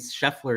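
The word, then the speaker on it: Scheffler: I got to say, crazy how macar by the way is the shorter word, yet it's three syllable syllables. And then uh freaking Sheffler is longer and it's only two English language for you, huh?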